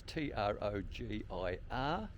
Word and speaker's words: Trogir: On this occasion we're at the old city of Trogir, is how I'm going to pronounce it. That's Trogir.